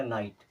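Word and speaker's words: night: आई जीी एच टी एन आई जीी एचटी आई के बाद में जीच तो जीच खत्म इसे पढ़ना क्या है आई तो ये हो जाएगा नाइट क्या हो जाएगा नाइट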